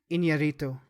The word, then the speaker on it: Iñárritu: And the how do you pronounce the director's last name? He's Alejandro Iñárritu.